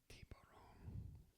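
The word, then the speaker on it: tiburón: Shark is tiburon. Accent on the O.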